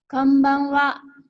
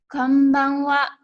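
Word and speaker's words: こんばんは: Yang kita ucapkan adalah konbanwa. Ibu ulang, konbanwa.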